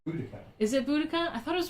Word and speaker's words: Boudicca: It's Boudica.